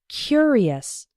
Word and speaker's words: curious: The adjective form is curious. The first syllable is strong. He was a curious boy.